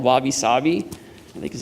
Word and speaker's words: wabi-sabi: Ross taught me something, the Japanese aesthetic called wabi-sabi, I think is how you say it, but it's imperfect, impermanent, and incomplete.